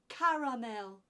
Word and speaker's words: caramel: caramel C caramel caramel three syllables in that word caramel can you try seeing